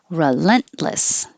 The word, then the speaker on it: relentless: Relentless. Don't say the T.